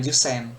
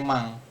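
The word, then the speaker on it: 万: Jadi kalau ini jadinya bukan ee Jen bukan Jusen tapi ada lagi dia penyebutannya mang yang ini mang seperti itu.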